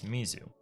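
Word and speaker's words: 水: something like that uh the reading which is the purely Japanese way is Mizu it's a word in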